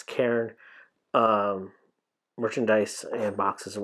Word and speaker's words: Cairn: I got to watch my pronunciation on that. It's Karen.